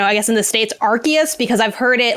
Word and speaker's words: Arceus: it's pronounced oh yeah i always thought it was going with the hard c yeah i like it is arceus like i think it